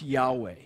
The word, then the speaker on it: Yahweh: write the name of God, which we would pronounce Yahweh.